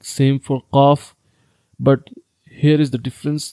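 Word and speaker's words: قاف: Qaf is read by the root of the tongue and the soft plate.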